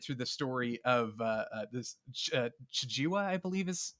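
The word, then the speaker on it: Chijiiwa: And then we're watching it through the story of this Chijiwa, I believe is how you pronounce his name. Chijiwa, yeah.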